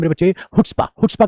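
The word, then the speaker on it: chutzpah: हुट्पा। हुटस्पा का मतलब क्या होता है बेशर्मी शेमलेस ओडेसिटी हुट्पा शी साइलेंट है मेरे भाई तो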